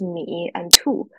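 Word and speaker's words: 米兔: And in the middle of this window are two Chinese characters pronounced as Mi and Tu, which literally mean bunny rice.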